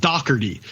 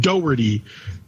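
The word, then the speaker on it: Doherty: supposed to be pronounced Dockery uh that's how that's like the Irish pronunciation her last name is spelled D o h e r t y right no man no it's like Doty that's how it's pronounced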